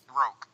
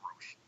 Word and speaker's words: Roch: Roke. Close. It was Roke? Yes. Even as they were talking about it on the episode, I was pronouncing it Roche.